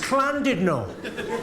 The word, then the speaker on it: Llandudno: It's Llandudno. In Wales, the double L is pronounced with a C.